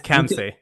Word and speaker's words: Khamseh: Okay, he can pronounce that for here in a minute. It's Khamseh. Yeah. Khamseh, yeah, so I'm way off, right?